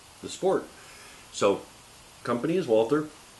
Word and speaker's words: Walther: to be reviewing the Walther P22. You said it right. I did say it right. Sorry, it's been Walter most of the weekend. This is the Walther P22.